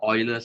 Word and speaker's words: Euler: known as euler or euler's formula the correct way to pronounce this word is euler but anyway the name